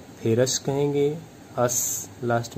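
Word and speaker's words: ferrous: Iron 2 वाले को फेरस कहेंगे, अस लास्ट में अस आ रहा है 2 वाला, और 3 वाला को फेरिक कहेंगे, लास्ट में इक आएगा, फेरिक।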